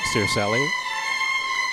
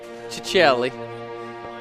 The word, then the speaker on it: Circelli: always been curious cuz he in Canada he pronounced his name his last name Cerselli and I'm wondering if now that he's he's Italian uh in citizenship. Is it Chichelli? Chichelli.